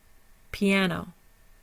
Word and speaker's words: piano: in that way so our primary stressor is on the second syllable before the N our secondary stressor is on the o piano piano there is no schah in piano tomorrow tomorrow we have